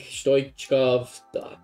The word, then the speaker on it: Stoichkov: Yeah, that's how you pronounce it. I think Stoichkov, I think it's actually similar to Roberto Carlos.